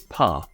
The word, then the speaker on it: pain: In fact, they aren't even pronounced the same. The French one is pronounced as pas, and it is of course the French word for bread.